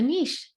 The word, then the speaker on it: niche: to work with a niche with what you just did as a starting point for this okay so a niche or a niche and I will use pronounce it both ways have three parts to